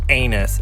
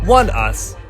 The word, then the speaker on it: ONEUS: Just in case you were wondering, it's not anus, it's ONEUS.